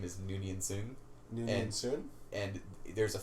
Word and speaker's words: Soong: Soong. S-O-O-N-G. Yeah, but Noonian doesn't really rhyme with often wrong.